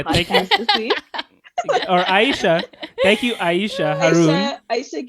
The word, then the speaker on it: Aysha: Just say Aysha. It's 2 syllables. Aysha.